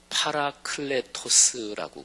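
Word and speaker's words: παράκλητος: 그러니까 성령 하나님, 그 보혜사라고 표현된 거는 헬라어 발음으로 하면 파라클레토스라고 그래요. 파라클레토스, 이 보혜사라고 번역된 게.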